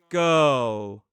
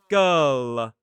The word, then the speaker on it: girl: So in a word like girl, we pronounce it like this. Ul. Girl. We don't release it, so it doesn't sound like girl.